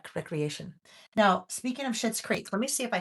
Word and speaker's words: Schitt's Creek: Schitt's Creek. I didn't swear. That's the name of it. It's spelled Schitts.